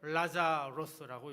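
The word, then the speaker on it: Λάζαρος: 나사로 헬라오로 라자로스라고 읽고요. 히브리어로는 엘르아자르 이렇게 읽습니다.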